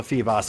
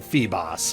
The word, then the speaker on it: Feebas: It doesn't have 2 S's, so it's not Feebas. You know, there's not 2 S's, so I'm going to call it Feebas. Amazing how adding an extra S makes it Bass, and having 1 S makes it Boss in my eyes, but that's just the way it goes.